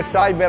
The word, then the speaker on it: cyber: una parola italiana e la pronuncia inglese Cyber andrebbe conservata solo quando il secondo elemento non è per cy che combatte